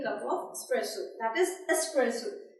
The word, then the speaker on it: espresso: That is espresso. Simply stress on S, not X.